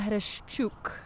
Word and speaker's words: Hreshchuk: gonna mess up pronunciation of your last name Hirsch very close introduce yourself hello world my name is who shook I didn't almost get it I butchered a you see your sounded way better